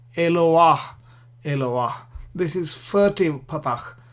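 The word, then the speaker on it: אֱלוֹהַּ: just to the left so that you pronounce the patach first and then the He. So you say Eloah, not Eloha, but Eloah.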